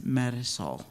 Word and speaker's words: Marisol: And the baby's name is Marisol. Say it again? Marisol. Marisol. They are very particular, I guess, about a Central American pronunciation, and we'll get it eventually. But I'd say Marisol, but she's Marisol, yeah.